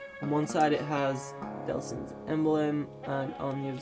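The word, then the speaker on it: Delsin: And then finally, I believe it's finally, yep, you get Delson's, I am pronouncing his name right, it is Delson, yeah, Delson, I thought it was.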